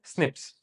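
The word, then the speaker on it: SNPs: उनको प्रोनाउंस कैसे करते हैं? स्निप्स ह्यूमंस में।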